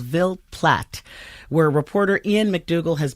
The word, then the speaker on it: Ville Platte: So this investigation begins in, am I pronouncing the town right, Ville Platte? That's correct. Okay. Where is this town? And tell us, paint a picture of what it's like there. Sure. Ville Platte is sort of in the south-central part of